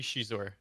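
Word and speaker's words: Xizor: rindar or prince shizuor how do you say she's or do you say she's or you say zaizor i think it's supposed to be shizuor she's orders how it is in the audiobook so you know what audiobook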